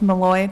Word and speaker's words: Malloy: I'm representing Ms. Malloy. That's how you pronounce her last name.